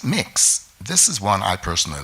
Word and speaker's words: Mx: MX is instead of Ms. and is pronounced mix.